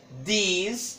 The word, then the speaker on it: these: These, olha a pronúncia agora, já é these. These, como se fosse do verbo dizer, these, né?